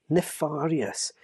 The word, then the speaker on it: nefarious: the word naer us my wife has just informed me that I pronounced that word completely wrong and will Contin continue to do so so I do apologize it is apparently nefarious which would explain why it's spelled that way if only I'd thought